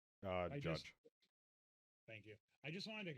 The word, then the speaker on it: Judge: Judd or Judge? I don't know. No, I gotta get it right. If I'm gonna say the guy's name, right? I at least owe it to him to say it right. Come back to me. I'm looking it up. Judge.